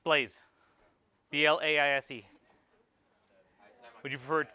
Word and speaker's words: Blaise: Is it pronounced Blaise?